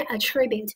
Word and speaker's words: attribute: 那么现在老师读的是 attribute，但是我们说单词呢，如果说这个重音发生改变的话呢，它会发生词性跟意思的改变。